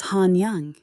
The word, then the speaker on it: Hanyang: Bring him to Hanyang, pronounced Hanyang.